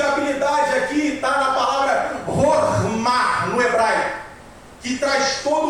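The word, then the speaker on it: חכמה: Somente o conceito de habilidade aqui tá na palavra hormar no hebraico, que traz todo o conceito de habilidade temendo a Deus. A palavra pronúncia é essa mesmo, rorma, que é a habilidade aprendida com temor ao Senhor.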